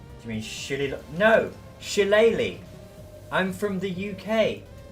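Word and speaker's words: shillelagh: you mean shitty no shilleli I'm from the UK I know it's pronounced sheleighly is an Irish Club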